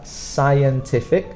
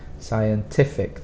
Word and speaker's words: scientific: not a k scientific scientific the strong sound is on the ti scientific and then notation